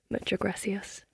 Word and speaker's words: Muchas gracias: Muchas gracias. Is Muchas that gracias.